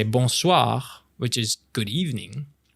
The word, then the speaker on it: bonsoir: And same thing for bonsoir. Good evening. Bonsoir. With once again, the rolling R sound at the end.